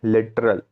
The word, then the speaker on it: littoral: देखिए LITTORAL मतलब क्या होता है, लिटरल। इसको आप कैसे प्रोनाउंसिएशन करेंगे, इसका इसका प्रोनाउंसिएशन कैसा होगा, लिटरल कोऑपरेटिव सोसाइटी।